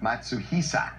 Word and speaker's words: Matsuhisa: Evan has just been on my case because I haven't pronounced the name of the restaurant. The restaurant they went to in Beverly Hills, Matsuhisa. Matsuhisa.